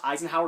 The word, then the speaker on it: Eisenhower: My last name's Eisenhower, like the president.